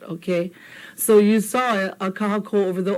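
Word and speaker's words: kahakō: Now, if we didn't have that, it would have been kahako instead of kahako. Is there a difference? Hear the difference? Kahako versus kahako.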